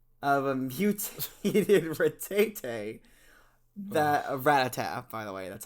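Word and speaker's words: Rattata: long form descendant of a mutated rate that ratata by the way that's how we pronounce the ratata that mutated after the chunk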